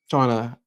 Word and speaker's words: Chanaly: Um, it is pronounced Shauna, correct? Shana. Shauna.